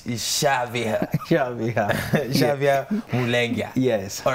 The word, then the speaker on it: Syaviha: for me is your name and how you pronounce it it's Shavian yeah yes all right sous-chef Ian Melinda coming